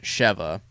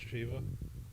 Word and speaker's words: Sheva: So you had Chris, the returning Chris Redfield, and Sheva. So when they started advertising this game, It's not Shiva. I think it's pronounced Sheva.